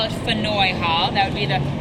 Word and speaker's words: Faneuil: Peter Faneuil was of French origin, and here we've never been able to pronounce anything French, so you can call this Faneuil Hall, Funnel Hall, Faneuil Hall.